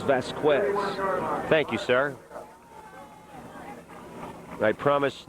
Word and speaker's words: Vasquez: The correct pronunciation for his name is Vasquez.